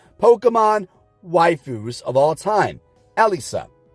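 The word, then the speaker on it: Elesa: waifus of all time Alisa and yes it is Elisa if you've been pronouncing it wrong all these years you've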